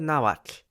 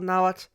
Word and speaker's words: Nahuatl: their civilization, they spoke a language called Nahuatl. Yes, with a tl sound at the end, as it is for the majority of nouns.